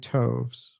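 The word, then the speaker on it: toves: that has often been asked me how to pronounce slyy toes SLI t h y t o VES the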